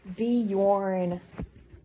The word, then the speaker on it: Bjorn: really boring um oh be Yorn okay oh that's how you pronounce it spicy I was hoping